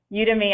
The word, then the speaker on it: Udemy: And fun fact, in case you're wondering how to pronounce the name, Udemy actually comes from Academy of U.